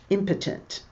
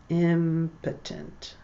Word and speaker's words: impotent: Impotent. I'll write that. Impotent. Impotent. It's not pronounced impotent.